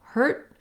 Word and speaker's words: hurt: air gets released so hurt is like very short vowel with my tongue marking the t and no release heard heard i may